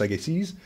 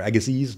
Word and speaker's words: Agassiz: His name is Louis Agassiz, or Agassiz, depending on how you pronounce it.